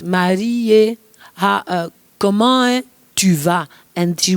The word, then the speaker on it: Marie: Marie, not Marie, but Marie, comment tu vas?